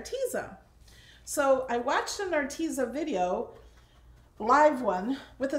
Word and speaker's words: Arteza: to say our teaser so I watched in our teaser video live one with a CEO in it she called it our teaser so I'm like Alex Alex it's our teaser